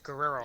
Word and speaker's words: Guerrero: you're pronouncing it wrong. It's Guerrero. It's too many syllables.